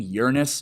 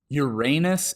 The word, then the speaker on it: Uranus: of Earth and for the record I'm saying Uranus because that's literally how you pronounce it Uranus is a lie we all believe like that